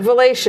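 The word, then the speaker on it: Valatie: well, just to let the people know that yes, I am seeing that word, but Valatia is the way it's pronounced.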